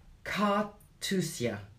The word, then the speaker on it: Carthusia: Carthusia.